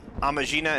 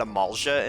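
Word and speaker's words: Amajina: I have literally spent the past, like, 6 years pronouncing that Amalja and Sons, and I only just in this playthrough realized that that's not what that actually says.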